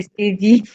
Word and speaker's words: Stevie: Stevie, je prononce bien. Stevie, non, c'est Stevie. D'accord. Excuse-moi, Stevie. Allons-y. Non, il n'y a pas de souci. Je suis habituée. Beaucoup prononcent en anglais.